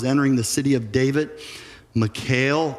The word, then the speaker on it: Michal: Verse 16, as the ark of the Lord was entering the city of David, Michal, or maybe you pronounce it Michael, daughter of Saul, watched from a window.